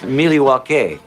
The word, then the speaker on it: Milwaukee: Actually, it's pronounced Milywake, which is Elgangquin for the good land.